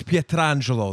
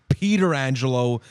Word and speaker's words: Pietrangelo: yeah first of all alex pietrangelo that's how you're supposed to pronounce it and the fact that he wants it to be peter angelo is the disgrace don't olive garden your italian name okay all right uh